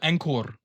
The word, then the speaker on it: Ankur: Everyone calls him Anchor. Hey, Anchor, what do you know? He's like an Indian guy. He's from New Delhi. I call him Ankur when I speak to him. Yeah. That's how his fucking name is pronounced.